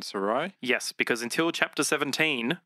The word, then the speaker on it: Sarai: But Abram and how do you pronounce Sarah's? Sarai. Abram and Sarai.